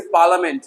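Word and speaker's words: parliament: इस तरीके से पार्लियामेंट ना के पार्लियामेंट, बहुत सारे लोग कहते हैं पार्लियामेंट, लिया नहीं है, कुछ भी लिया दिया नहीं है, हेलो हाँ समझ जाओ, लिया नहीं, ओनली पार्लियामेंट, प ल, आई साइलेंट हो गया तो ल ही तो पढ़ोगे ना, एल ए ल, पार्लियामेंट संसद।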